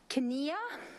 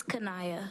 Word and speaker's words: Kenia: to welcome the Superintendent Student Advisory Council representative, Kenia. Did I do okay? Can you help us, please? Sometimes they give it to me how it's pronounced and I didn't have it, please. It's Kanaya.